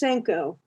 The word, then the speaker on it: Senko: welcome to the show i always say cinco cinco or senko it's senko but if the family uh pronounces it senko those are the ones who